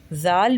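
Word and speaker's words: ذال: यानी कि इसको अदा करते वक्त भी जुबान की नोक ऊपर वाले दांत के किनारे से सॉफ्टली टच करनी है। फिर इसको प्रोनाउंस करना है। जाल भी तीन हुर्फी है। इसको भी हम पांच अलिफ के बराबर लंबा करके पढ़ते हैं। और जाल को भी सा की तरह नरम पढ़ा जाता है।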